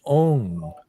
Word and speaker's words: Ong: First syllable, Ong, is a O-N-G nasal sound. Okay. Ah. C-A. C-A. C-A. And then Hong is also a N-G nasal sound.